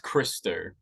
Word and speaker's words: Christou: So it's pronounced Christou.